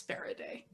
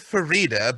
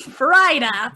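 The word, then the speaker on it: Farideh: And like you pronounce it like you pronounce fajita, presuming you've pronounced fajita correctly. Fajita. Then you have a problem. Farida.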